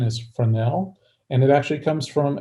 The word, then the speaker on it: Fresnel: I like to joke around and call it fresnell but that's not correct the correct pronunciation is frel and it actually comes from a uh from